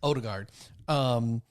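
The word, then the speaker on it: Ødegaard: Odegaard.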